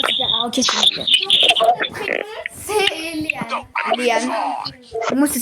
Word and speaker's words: Léane: Léane. Moi, ça s'écrit.